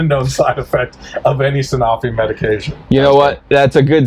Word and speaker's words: Sanofi: Sanofi is how you say it?